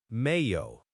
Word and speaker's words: Mayo: Mayo. M A Y O. Mayo. Mayo. Okay. So, the Y here is making a hu sound like yo. So, mayo. Kind of like mayonnaise without the inero.